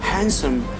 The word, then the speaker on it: handsome: We have to silent the letter D. So you cannot say like Wednesday, you cannot say handsome, you cannot say handkerchief, you cannot say sandwich, but correct pronunciation will come. The certain rule is that Wednesday, handsome, handkerchief, and sandwich. So now just move for the silent E.